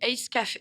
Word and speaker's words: Ace Café: Nous, on dit Ace Café. Et en plus, c'est pas coffee, c'est café.